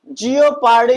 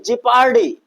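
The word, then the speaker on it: jeopardy: जियोपार्डी नहीं, जिपार्डी। तो यहां पर भी हमारा क्या होगा भैया, ओ साइलेंट होगा।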